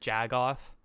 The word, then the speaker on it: jagoff: have you ever heard jagoff i can't say that like is this just like a weird way to pronounce like calling someone a jack off literally exactly yeah it's jag off yeah jagoff my grandma